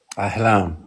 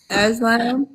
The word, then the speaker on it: Aalam: Aalam. Aslam. Aalam. Aalam.